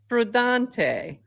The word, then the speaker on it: prudente: Today's word is prudente.